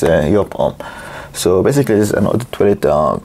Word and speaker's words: Joop: reviewing y home and some people pronounce it as job home but the real pronouncing is yop so basically this an